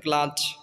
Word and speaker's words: glad: আর কিছু ব্যতিক্রম তো অবশ্যই থাকবে, যেমন গ্লাড, গ্ল্যাড হবে না, গ্লাড হবে আর কি।